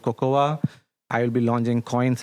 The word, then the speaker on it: Cocowh: Cocoa. Okay. Okay. How do you spell it?